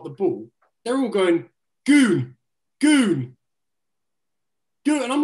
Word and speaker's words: Gun: Ken, who the fuck is his goon? Name Ken? Is his name Ken or not? Mate, the translator's called Ken. No, the translator's called Ken. The bloke's called Goon, but it's spelled G-U-N, Gun.